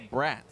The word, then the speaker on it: Bratz: Dale Bratz, spelled like the doll, B-R-A-T-Z, Dale Bratz.